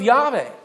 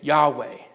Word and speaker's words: Yahweh: so feared in fact yve isn't even really the real name that's a pronunciation that was combined from two different ones that yhvh or yhwh